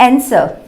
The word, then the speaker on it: answer: Okay, और यहाँ पे मैंने कुछ और स्पेलिंग्स लिखे हुए हैं, जैसे आंसर, ANSWER, यहाँ पर भी W साइलेंट होता है।